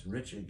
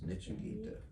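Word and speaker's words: नृत्य: Maha Prabhu Nritya, it's Nritya Gita. Most devotees pronounce it as Nitya Gita. It's Nritya, Nritya. Mahaprabhu Kirtana Nritya Gita. It's not Nitya Gita.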